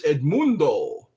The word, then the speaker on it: Edmundo: No, it's Edmundo. Edmundo. That's how you say my name in Spanish.